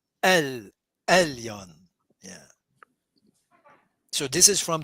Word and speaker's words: Elyon: And it's a stronger, when you pronounce, you see Elohim, it's a kind of but the ayin is stronger than that. Elyon.